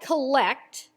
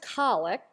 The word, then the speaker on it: collect: Now for those of us who may not speak Episcopal, a collect spelled like collect but pronounced collect is a simple prayer meant to combine the people's intentions and the focus of worship into a succinct prayer.